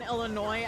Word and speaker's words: Illinois: If you pronounce the S in Illinois, I will just like at best time you out.